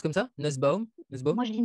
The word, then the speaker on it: Nusbaum: fait plaisir qu'on soit large et ça se prononce comme ça nussbaum de ce moment je lis nussbaum mais en